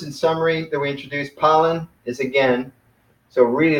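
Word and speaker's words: πάλιν: The word pollen.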